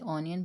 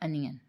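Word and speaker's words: onion: में अनियन कहते हैं बट इसके स्पेलिंग में ओ आ जाता है जिसकी जजह से लोग इसे ओनियन पढ़ लेते हैं जो कि बिल्कुल रंग है इसकी करेक्ट प्रोनंसिएशन है अनियन नेक्स्ट वर्ड है हमारे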